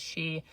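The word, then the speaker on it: Xi: It's spelled X-I, and if I'm pronouncing this incorrectly, I apologize. I believe it's pronounced she.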